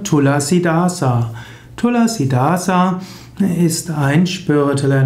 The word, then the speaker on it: Tulasidasa: Pflanze auch tulsipflanze genannt tulasidasa wird meistens ausgesprochen tulsidas das Sanskritwort tulasidasa wird in Indien verkürzt auf tulsidas Tulsi ist winu heilig